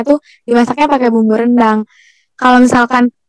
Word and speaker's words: rendang: di WhatsAppnya pakai bumbu rendang kalau misalkan pelafalan yang betul yaitu rendang apa randang atau rendang kalau disini renang menyebutnya randang mungkin kalau sudah